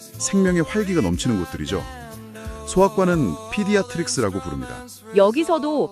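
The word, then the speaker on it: pediatrics: 청취자님도 그 생동감 넘치는 아이들의 모습을 그리며 3번 발음해 보시죠. 피디아트릭스, 피디아트릭스, 피디아트릭스, 피디아트릭스.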